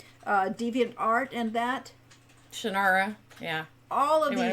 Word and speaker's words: Shannara: Shannara.